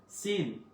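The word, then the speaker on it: س: সিন সিন সিন, সিন উচ্চারণ ক্ষেত্রে একটু স্ট্রংলি বলতে হবে আপনাকে।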